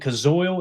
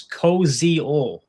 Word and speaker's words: Koziol: Okay, Ihanakor was one of the better tackles in the game, and we've been saying Kazoil. Evidently, the pronunciation online that I looked up is Koziol.